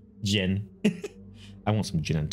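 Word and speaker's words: Ghen: Gen, yeah, it's spelled G-H-E-N. Gin.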